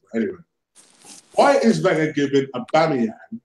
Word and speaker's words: Aubameyang: Anyway, why is Wenger giving Aubameyang, Aubameyang, let me say it properly, that's the way